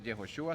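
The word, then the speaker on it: Yehoshua: de sus pecados Okay Jesús verdad se pronuncia jehoshua significa Jehová salva lo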